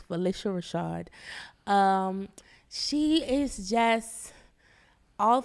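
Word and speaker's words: Phylicia Rashad: Rashad and it is people think it's Felicia it's Felicia that is from her mouth it is pronounce Felicia Rashad um she is just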